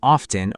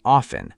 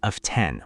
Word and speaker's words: often: It's often or often. Both are fine. Just don't say of 10 with stress on the second part. Right. The stress is on the first syllable.